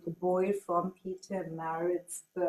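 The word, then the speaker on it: Pietermaritzburg: called the boy from Peter Maritt pronounce that correct okay cool so I will never forget that it's Peter Marsburg So I know where this comes from now.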